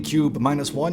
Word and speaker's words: Qbeh-1: Qbeh-1, and yes, this is apparently pronounced cube.